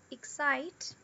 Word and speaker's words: excite: Mas, indo contra o que eu acabei de falar para vocês, aqui na palavra excite, a gente não tem o schwa na sílaba unstressed. A gente tem o som do e. O som e, ele é comum de aparecer nas sílabas que são unstressed também. Então, aqui a gente tem excite. Excite.